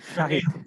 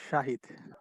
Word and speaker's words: শাহিদ: Shahiduzzaman sir শাহিদ। Thank you. শহীদ না? স্যার শাহিদ। শাহিদ, উচ্চারণ শাহিদ।